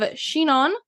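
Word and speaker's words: Chinon: couple sub regions within here so you have shenan c h i n o n and burgy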